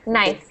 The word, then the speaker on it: knife: And for knife, you do not pronounce the K. We just say knife.